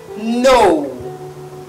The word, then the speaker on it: know: And this word has a K, but the K is silent.